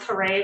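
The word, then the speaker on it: Caree: a r e e McQueen car Kare it's pronounced Kare but it's c a r e e McQueen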